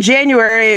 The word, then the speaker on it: JanuAury: And then lastly, in January, it is the annual I can never know how to say this. January. It's January with the letters AU in it, like alternative universe.